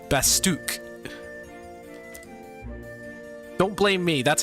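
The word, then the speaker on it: Bastok: now I do realize by the way it's pronounced basuk not bastock basuk don't blame me that's how they pronounce it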